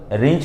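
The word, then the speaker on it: wrench: मैंने प्लीज बोल आह W silent रहता है याद रखिए रेंज कहा जाता है इससे उबर मत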